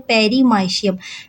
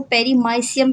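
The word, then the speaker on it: Paramecium: इसे हम कहते हैं पेरमाइशियम। पैरामेशियम से याद रखिएगा इसको पेरमाइशियम कहते हैं। बहुत से स्टूडेंट्स इसको पेरीमाइसाइसियम भी पढ़ सकते हैं। आपकी अपनी मर्जी है। लेकिन इसका सही प्रोनाउंसिएशन पेरमाइशियम है।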